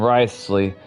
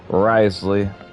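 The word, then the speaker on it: Wriothesley: So, that's how you pronounce his name. Risley. I don't know how I was pronouncing it earlier, but I was pretty sure I was butchering it. Risley.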